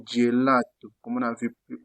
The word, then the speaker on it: gelato: Même chose avec le G. Lorsqu'il est devant EI, on le prononce je. Par exemple, gelato, comme on a vu plus haut.